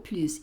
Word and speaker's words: plus: n'existe plus, acuérdate que el plus lo digo plus y pronuncio esta S cuando quiero hablar de más.